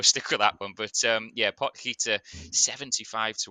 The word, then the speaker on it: Potgieter: Now, it looks like Pot Gaiter for a lot of people would say, but I did do my research on this one, and it's Pot Gaiter is how you pronounce his name.